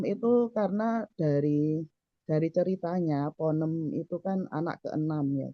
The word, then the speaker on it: Ponem: kan pengennya nanti ada Ponem satu, 2, dan 3 gitu Umi. Jadi ini sebagai awal gitu ya, awal perkenalan siapa sih Ponem itu. Nah, itu sebenarnya itu. Rupanya bacanya ponem ya, bukan ponem ya.